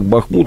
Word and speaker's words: Бахмут: я неправильно ударение ставлю одни эксперты говорят бахнут Другие бахмут может быть вы меня поправите Как правильно должно быть А вот ситуация правильно бахмут местные жители говорят что